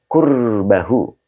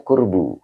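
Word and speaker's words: قربه: Mas Fram 212 he qurbahu e dibacanya qurbu Karena fail Pak Ya Pak Mas Fram karena ini fail jadi dibaca qurbu jadi kedekatan dirinya kemudian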